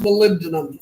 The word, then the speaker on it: molybdenum: do Molly be demo it's pronounced molybdenum it's 42 my V but people call it Molly be in demo go right ahead maybe